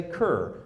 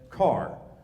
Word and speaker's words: Kerr: It looks like Kerr. Looks like you should say Kerr. The family pronounced it as Carr.